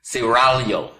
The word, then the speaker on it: Seraglio: Pronounce it Seraglio. I gotta roll the tongue, excuse me. Seraglio.